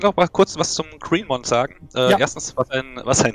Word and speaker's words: Gréénmon: Du sagst auch Greenmon. Moon. Nick Mon, also M-O-N, von daher Mon, Green Mon.